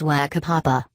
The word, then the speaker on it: whakapapa: I also eat feijoas by the bucket and no longer laugh when hearing words such as whakapapa. In case you're wondering, the WH is pronounced as an F.